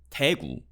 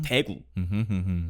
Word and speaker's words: 대구: But 대구 dialects tend to start with like a heavy accent on the front. I see. So like 대구, even though it's just saying the name of the area, so 대구, 대구 사람, those kind of things.